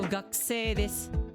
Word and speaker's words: 学生: As usual, omit the pronunciation of u. So 学生です. So even here in the ku part, omit 学生です.